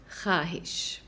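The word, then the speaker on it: خواہش: So this word instead of khwahish is pronounced khaahish. Similarly, it's khab, not khwab, and tankha, not tankhwa.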